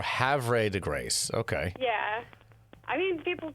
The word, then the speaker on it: Havre de Grace: Okay, there's no R, I see. It's V before R. Havre de Grace.